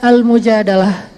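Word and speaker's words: المجادلة: Jadi tergantung kita bacanya dilah atau dalah. Kalau kita baca mujadilah, berarti perempuan yang lagi curhat. Kalau kita baca al-mujadalah, berarti curhat itu sendiri.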